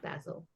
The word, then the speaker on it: Basil: It's pronounced Basil.